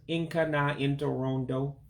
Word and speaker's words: Nka na Ntorondo: But again, we're studying the topic, arts and entertainment, which again is pronounced in Igbo as Nka na Ntorondo.